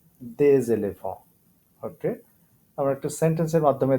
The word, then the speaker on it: des éléphants: So একই আবার একটু লিয়াজের ব্যাপার, pronunciation হবে এরকম des éléphants, des éléphants, des éléphants.